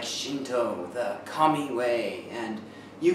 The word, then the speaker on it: Shinto: them together today all right let's get started shinto is maybe a more common word in america than japan if you ask many japanese people what is shinto or sometimes pronounced shindo many people are a little confused they don't